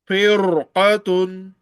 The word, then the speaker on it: فرقة: يسرون Now, case when raw is followed by thick letters and very thick and high letters, raw will be pronounced thickly. Just like firqatun, فرقة firqatun.